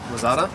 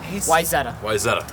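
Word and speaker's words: Wayzata: Just a small town in Wazada? Wyzetta. Wyzetta is how Had you some pronounce good it.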